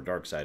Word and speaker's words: Darkseid: that as well I just I know it's pronounced dark side I don't care forgive me for first digging